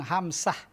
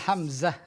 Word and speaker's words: Hamzah: ismuhu hamzatu ismuhu hamzatu ada beberapa ejaan yang Salah Nama saya ada yang bilang hamsah ada khot ada yang bilang hambiah ada asadu khotan ya betul Hamzah n Hamzah bukan sin bukan bukan hambiah ada KH kadalik Hamzah